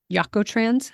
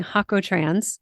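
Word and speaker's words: Jacotrans: advance online using Coreos or Yakotans. Hal Hakotrans. I always say it wrong. Using Hakotrans, that's J A C O T R A N S. like Jalapeno, Hakotrans, the J in Spanish is a hard one for me.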